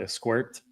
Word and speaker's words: Squirt: I'm fighting grapefruits right now if it's not esquirt, which is the proper pronunciation, right, Peter? It's not squirt, it's esquirt.